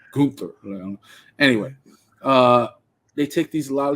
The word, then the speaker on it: Gunther: They took I hope I said that right because I know he doesn't pronounce it as Gunther. He's like Gunther.